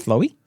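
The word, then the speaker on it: Flói: is fluie um flu flowy flowy f l UI yeah flu flowy flu it's the word flu and then an i how's that become flowy wait spell it f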